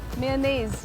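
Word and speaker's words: mayonnaise: इट्स मेयोनेज मेयोनेज तो भैया please मेरे बर्गर में मेयोनेज ज्यादा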